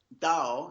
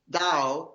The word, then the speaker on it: Tao: Actually, the word Tao, it's pronounced with a D actually, is it means in Chinese, it means way or path.